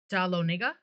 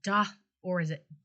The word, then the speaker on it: Dahlonega: These were struck in the branch mint at, if I can pronounce the name right, Dahlonega? Or is it Da Lonega? think it's Dahlonega. Yeah, I think it's Dahlonega, in Georgia.